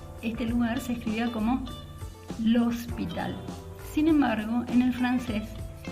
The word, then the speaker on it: L'Hôpital: publicaciones que él hacía firmaba como l'hospital, aunque esa S no se pronunciaba, ¿sí? Acá dice l'Hopital, pero escrito de una manera diferente.